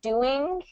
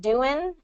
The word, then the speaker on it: doing: the doing and telling, you're pronouncing it doing and telling, and I want to get that ing ending in there. So doing, yeah, good, and telling. Yeah, there you go. So it's the slightest difference of just pronouncing it, the N in the front versus the N in the back.